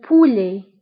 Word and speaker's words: poulet: فانتبهوا بالنسبة le poulet كنكتبوها بالت في آخر الكلمة ولكن لا تنطق. le poulet.